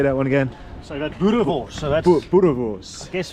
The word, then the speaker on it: boerewors: So that's boerewors.